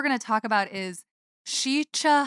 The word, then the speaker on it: Sica: to talk about is shicha hollow is how you pronounce it shicha but it's spelled s-i-c-a okay so is it